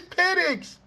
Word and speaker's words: Penix: Is his name, is the correct pronunciation Michael Penix? It's Penix. So now you forced it by changing the E sound.